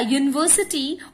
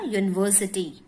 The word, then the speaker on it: university: A university, although u is a vowel, it has the sound of the consonant y. है ना, university.